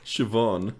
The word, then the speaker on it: Siobhan: okay what's the work what is it Siobhan okay bees aren't these uh again I think